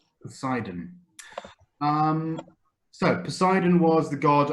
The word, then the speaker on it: Poseidon: Poseidon. Poseidon. Second syllable. Poseidon.